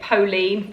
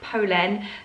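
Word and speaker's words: Polène: brand called polen i have been calling it pauline for longest time so please excuse my ignorance i have been corrected it is pronounced polen they are a french brand i think they're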